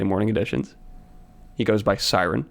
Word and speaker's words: SRN: He goes by Siren. Say hello. Hello. How's it going? What's up, Siren or SRN, if you want to pronounce it incorrectly, because that's what I use on all my social media sites.